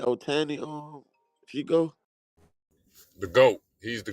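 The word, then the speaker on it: Ohtani: What ain't that how you pronounce his name? Otani, Chico.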